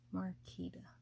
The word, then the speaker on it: Marquita: full name is it is spelled marquita m-a-r-q-u-i-t-a but it is pronounced marketa my zodiac sign is